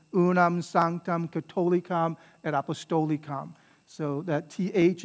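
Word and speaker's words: catholicam: catholic and apostolic church all right unam sangtam katolikam and apostolicon so that th is just a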